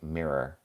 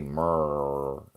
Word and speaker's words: mirror: When I was younger, I had a really difficult time saying mirror. I used to kind of say myrrh, myrrh, but mirror can be difficult.